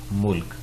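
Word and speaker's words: مُلک: وہی ہیں دوبارہ، لیکن میم کے اوپر اگر پیش ہو، لام اور کاف، ملک۔ ملک جو ہوتا ہے یہ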